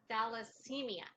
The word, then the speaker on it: thalassemia: Thalassemia.